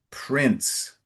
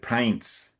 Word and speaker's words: prince: in the second line it's mighty prince I think you might have said pints So it's so the eye is closed. Prince and in the next line it's withhold withhold.